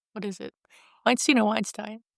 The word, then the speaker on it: Weinstein: Weinstein or Weinstein? It's Weinstein. Weinstein. It's spelled like Weinstein.